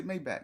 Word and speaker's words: Maybach: No, that's how you really say Mayback. You know, we we ghetto and So, we like Maybback. It ain't it ain't Mayback.